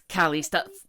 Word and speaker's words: Calista: Is it Calista? I don't want to say it wrong. Yes, yes. It's Calista.